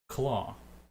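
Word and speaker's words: Clauh: her not title name it's uh claw but it's spelled c-l-a-u h wow I guess it'll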